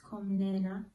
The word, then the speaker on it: Komnene: Actually, it's pronounced Komnene.